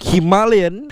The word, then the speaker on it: Himalayan: And before I continue on, the reason why I'm saying Himalayan is because that's the correct way to pronounce the word. Basically, the Himalayan is much more of a British or English kind of pronunciation, but because I've been to Ladakh and rode there on a Himalayan 411, so it's only right that I use the proper pronunciation for Himalayan.